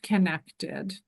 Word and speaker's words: Qinektd: It's pronounced connected.